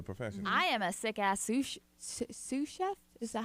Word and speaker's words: sous chef: I am a sick-ass sous chef. Is that how you say it? Yeah, sous chef.